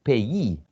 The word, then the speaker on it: payee: So pay, but the pronunciation of this one is payee.